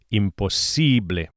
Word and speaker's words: imposible: Don't forget to stress the si, imposible.